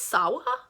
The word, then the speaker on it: Sawa: Sorry, I don't think I've always pronounced it Sawyer, but I think it's Sawa, whatever, and Seth Green.